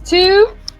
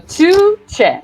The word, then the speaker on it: Tugce: Tugce. Imagine two Che Guevaras. So Tugce.